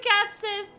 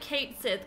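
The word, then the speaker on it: Cait Sith: at him cat Sith I refuse to call it Kate Sith cuz it's weird although I think it's it is spelled Kate Sith but all my life I have called him cat Sith believe it or not because he's a cat um wait where where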